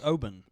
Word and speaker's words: Oban: so we got Oban is it Oben or Oban I think it's Obin yeah when when they when I went to Scotland I I believe they they pronounced it Obin okay so this is